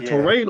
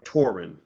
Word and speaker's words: Torin: Is it torin or torren? It's torren like foreign. This is the way I tell people to remember it. My name is pronounced torren like foreign.